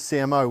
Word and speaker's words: Cemoh: This name Cemoh, because everybody asks, this is actually the phonetic, that's ironic I couldn't pronounce that. Phonetic pronunciation is CMO, which stands for Chief Marketing Officer, and that's the position